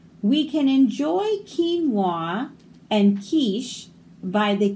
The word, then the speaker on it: quiche: We can enjoy quinoa and quiche by the quays of Qatar. So these all make a hard K sound.